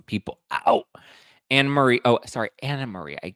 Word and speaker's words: AnneMarie: she calling some people out anarie oh sorry Anna Marie I it's spelled anarie but it's pronounced Anna Marie so Anna Marie was just on Carlos King's